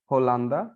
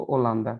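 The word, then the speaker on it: Holanda: लिखते हैं उसको H के साथ लिखते हैं, जैसे यहाँ पे होलांदा, लेकिन पढ़ते हैं उसको ओलांदा, तो H साइलेंट हो जाता है, लेकिन है ना।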